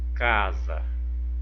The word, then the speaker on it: casa: Do lado eu tenho a palavrinha casa, casa, separando a palavrinha casa, casa, olha, casa. Qual que foi a palavrinha pronunciada com mais intensidade? Casa, o K, né? Foi o K.